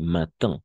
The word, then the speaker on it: matin: Como aquí, matin, d'accord? Aquí, oui, matin, ¿ok? Y un poco nasalizada incluso, d'accord? Matin. Así se va a pronunciar.